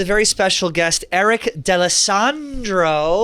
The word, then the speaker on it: D'Alessandro: All right, we're here with a very special guest, Eric D'Alessandro. Wow, great pronunciation. It is. Italian, not Puerto Rican.